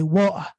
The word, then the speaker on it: water: So they don't say water, they don't pronounce the T, they say water.